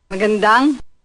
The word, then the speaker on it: Magandang: So what we're doing is we're taking maganda, which is beautiful, and we add a little nung sound on the end.